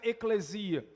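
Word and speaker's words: ἐκκλησία: O termo igreja, na língua grega em que foi escrito o Novo Testamento, pelo menos boa parte dele, se pronuncia eclesia.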